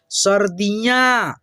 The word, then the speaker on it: सर्दियां: र की यानी कि रेफ की जो मात्रा है ना उससे उसको हम लोग पहले उच्चारण करते हैं। जैसे द पे लगा है तो द से पहले आधा र का उच्चारण।